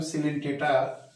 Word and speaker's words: Coelenterata: repeat करेंगे तो phylum सिल टेटा हम लोग देख रहे हैं फाइलम सिंटेट इन फैक्ट लिखते हैं हम कलें टेरेट ओ साइलेंट है पढ़ते हैं सिलेंट इस फाइलम का दूसरा